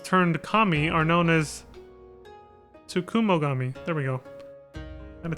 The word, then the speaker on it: Tsukumogami: These vessels turned kami are known as Tsukumogami. There we go. I'm gonna take a minute to really look at that before I could see how to pronounce it. Tsukumogami.